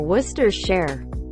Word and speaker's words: Worcestershire: call it Lian parents say muster replace the M with aw say share Worcester share birthday I always pronounce